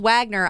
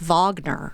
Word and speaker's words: Wagner: on the pronunciation thing even though it's spelled Wagner I believe it is Vagner you may think that